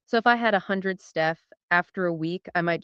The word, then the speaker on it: stETH: That is pronounced stETH, short for staked ETH.